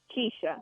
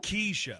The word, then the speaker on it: Kesha: Do you pronounce it Keisha or Kesha? Keisha. Keisha. Keisha.